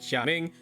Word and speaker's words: Gaming: is actually pronounced like xaing so you know you take the little take you take the G and the a separate it from the Ming and then go like